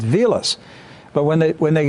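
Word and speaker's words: Wiles: name is German it's vus not Wilds it's vus but when they when they got when they got to America people looked at the spelling because Germans pronounced W as a v right all right and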